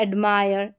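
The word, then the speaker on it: admire: आई आर ई है, तो आप याद रखें आई आर ई में पूरे का उच्चारण, आई का उच्चारण आई करके हो जाएगा और पूरे का उच्चारण आयर, आयर।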